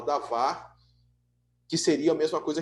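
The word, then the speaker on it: דָּבָר: seria davar ou dabar, se escreve dabar, mas se fala davar, que seria a mesma coisa que logos.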